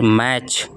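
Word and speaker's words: match: फिर मैच मैच। मैच मैच मैच टी यहां पे साइलेंट है।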